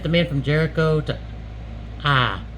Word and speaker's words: Ai: Joshua sent the men from Jericho to Ai. That's all I ever say of it. It's spelled like AI.